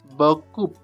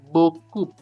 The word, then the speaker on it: beaucoup: They will say beaucoup. Why? Because they pronounce this p at the end. Beaucoup. Beaucoup.